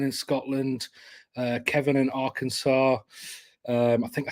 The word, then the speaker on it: Arkansas: Scotland Uh Kevin in Arkansas um I think I said that right I'm from England uh it's got an S at the end doesn't it but it's not doesn't you don't pronounce that s um right uh we